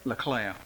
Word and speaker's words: Leclerc: Now, how you pronounce this? Leclerc? LeClaire.